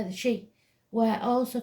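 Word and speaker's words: Sidhe: associated with Mounds barrows and Canes but it's pronounced she so we'll say the she were also called the hill folk we folk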